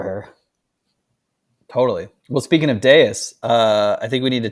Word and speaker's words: Devs: what do you think I think everyone's pronouncing it wrong and I think it's actually the V is a you and I think it's I don't want to mispronounce this but Deus and I think yeah